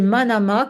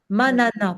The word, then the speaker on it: manana: H la deuxième pratique, c'est manama comme ça se prononce. M A N A manana, pardon.